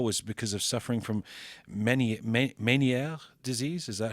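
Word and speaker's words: Ménière: No, that's the nicest way anyone's ever said it's Menieres. Meniere. Okay, but well, no, it's but got no, a accent aigu, so I thought it might.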